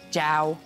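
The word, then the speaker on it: chào: Jiao.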